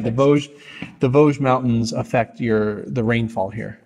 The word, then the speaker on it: Vosges: But kind of talk about how the Vosges, right? Did I say it right? Exactly. All right, the Vosges Mountains affect the rainfall here.